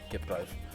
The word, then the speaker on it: Kipkluif: We're looking for GDL at Mystic versus Lazaro, and the main feature, Kipkluif versus Xander. That's how you say his name, by the way, Kipkluif.